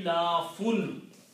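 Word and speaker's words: إيلاف: The pronunciation of these 4 combined will be ilafun.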